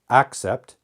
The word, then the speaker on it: accept: sound here is ah the first vowel sound here is e now some native speakers may not pronounce them different L but you should accept except accept accept except